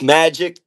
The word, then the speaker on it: MVJIK: Yo, so yo, tell the people your name because like you said, it's spelled a little bit different. Tell people it's Magic.